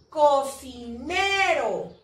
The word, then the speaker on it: cocinero: Acá tenemos otra, cocinero. Cocinero. Se divide en cocinero. Pero, ¿cuál es la sílaba tónica? Ne. Pero está terminando en vocal.